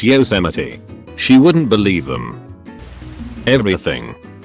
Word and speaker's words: Yosemite: one of his kiwi co-workers tells them it's pronounced Jose might they're like no it's Yosemite she wouldn't believe them everything I am a